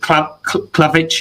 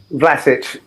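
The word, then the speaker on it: Vlašić: I've seen a few reactions from West Ham fans talking about when Yarmolenko comes on, and is it Klavic, if I'm pronouncing that right? Vlasic.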